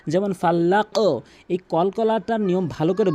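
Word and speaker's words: فلق: আরেকটি মিস্টেক করে থাকে ফালাক বলে ফালাক এখানে কিন্তু সাউন্ড করতে হবে কলকলা সাউন্ড ধাক্কা যেমন ফাল্লাক এই কলকলাটার নিয়ম ভালো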